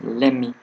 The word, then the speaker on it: let me: Let me explain. Do you hear the word let me? Let me is pronounced as lemmy, lemmy.